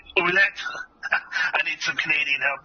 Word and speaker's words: Ouellette: Mike Ouellette, I think is this the way you pronounce his name? Ouellette. Yes. Ouellette. Okay, Ouellette.